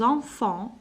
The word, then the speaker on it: enfants: Les boulevards, j'aime quand les enfants, ni T ni S, s'amusent au coin des rues sur les trottoirs.